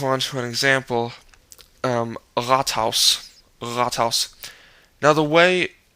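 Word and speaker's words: Rathaus: best for you is if you first open your throat just leave it open and then kind of back your tongue up to tighten the throat a little bit and push air through and going for that utive so-called sound and it it should work for you I think it's it's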